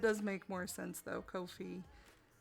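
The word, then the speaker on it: Ko-fi: make more sense though Kofi like coffee oh okay mmm-hmm now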